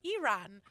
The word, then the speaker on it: Iran: actually have friends from it's actually pronounced Iran so yeah yeah so